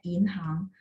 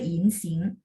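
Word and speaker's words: 银行: Misalnya contoh ketemu tulisan ini, maka ini harus bacanya inhang, bukan insing.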